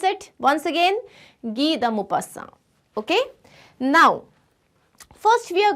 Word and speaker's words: Guy de Maupassant: This is a French name. It is Guy de Maupassant. Guy de Maupassant, not G. Guy de Maupassant. Okay, how do we pronounce it? Once again, Guy de Maupassant.